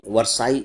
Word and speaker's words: Versailles: double L ई एस अब आप इसको सीधे-सीधे उच्चारित करेंगे तो वरसाई नहीं होता है क्योंकि डबल एल साइलेंट है गायब है तो आपको कंफ्यूजन ना